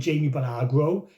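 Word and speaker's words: Jaume Balagueró: Well, he done Wreck 1 and 2 with Jamie Bellagro.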